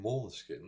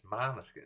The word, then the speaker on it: Måneskin: No, it's because of those people that they start saying Moleskin. No, it's Maneskin. It's not because they write it like that you have to pronounce it like that. That's just for a joke, because one of them is from Denmark. People in Italy are not gonna say Måneskin. You see an Italian saying Måneskin?